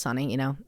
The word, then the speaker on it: Sony: But investigators were able to track down one of the men that is only referred to as Sonny, or Sony. It's spelled Sony, but it's Sonny, you guys know, in the letter.